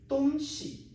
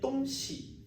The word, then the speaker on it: 东西: First, I said 东西, 喜 softly. It is 轻声. It means something is abstract or some things. But if I said 东西, 西 is 音频, it means the location east and west.